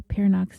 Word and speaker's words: Peernock: see pictures of the vehicle if you Google pio's name which is spelled p e e r n o c